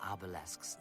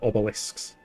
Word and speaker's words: obelisks: The crystal obellesks that dot the eyes. Obelles. Hold on. Hold on. Talking of pronunciation, I'm pretty sure she just said obellesks. Obellesks instead of obelisks.